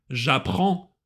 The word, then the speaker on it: apprends: Рекомендую обратить особое внимание на немые буквы в конце слова. Например, j'ai appris le français. S не читается, ни appris, ни français. J'apprends, DS не читается.